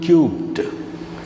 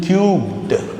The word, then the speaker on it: cubed: Is 3 to the power of 2 or 3 squared equal to 2 cubed? You should pronounce like, if it is in this way, you should pronounce as 2 cubed, not 2 cube.